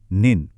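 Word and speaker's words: 您: এটা হলো নেন উচ্চারণ নেন এর মানে হলো আপনি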